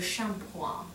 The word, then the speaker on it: shampoing: Shampoo, le shampoing. Oh, Le shampoing. It looks like shampooing, is how it's spelled.